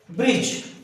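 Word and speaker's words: bridge: क्या बोलते हैं इसको, ब्रिज, ब्रिज। अब यहां पर मैंने ड कहां बोला, डी साइलेंट हुआ कि नहीं हुआ।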